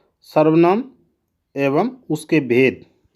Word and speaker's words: सर्वनाम: बच्चे जो हैं ज़्यादातर इसका ये उच्चारण करते हैं जो कि बिल्कुल ही गलत है। इसलिए बच्चों ये आपने कभी भी इसका उच्चारण नहीं करना है। इसका उच्चारण क्या करना है आपने? इसका उच्चारण ये करना है सर्वनाम।